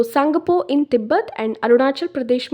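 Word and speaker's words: Tsangpo: river as सांगपो okay तो this सांगपो की spelling देखिए वेयर टी इज साइलेंट तो सांगपो इन तिब्बत एंड अरुणाचल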